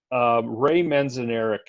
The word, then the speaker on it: Ray Manzarek: It was a line from Ray Manzarek. I think that's how you pronounce his name.